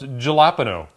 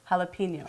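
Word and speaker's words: jalapeño: of pepper we have here I believe it's pronounced galapo close no jalapeno jalapeno jalapeno well if you're Spanish it's true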